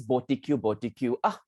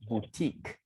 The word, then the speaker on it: boutique: sales and everything you always go to this body Cube I wanted to cut him with my credit card actually because he knows I hate it when he doesn't pronounce words correctly he was supposed to say Boutique Boutique you know ah in other words that